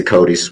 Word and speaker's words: CODIS: you explain what his code is is that pronounced right CODIS or Kodak yes it is yes CODIS you submitted DNA to that database multiple times